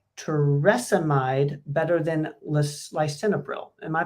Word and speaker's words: torsemide: Do you like torsemide better than lisinopril? Am I pronouncing that right? Torsemide.